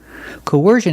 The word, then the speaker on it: coercion: W Co coercion coercion put the stress on the second syllable coersion coercion is a noun and